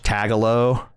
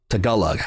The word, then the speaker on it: Tagalog: I got so I got clowned so hard by pronouncing that language tagalo. Uh, which is like the Girl Scout cookie, but apparently it's Tagala. Tagalog.